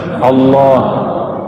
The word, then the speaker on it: Allah: Coba baca Allah. Saya orang Sunda bacanya Allah ya. Al Allah itu bukan dia lam ketemu lam. Allah harus disambung bukan mati.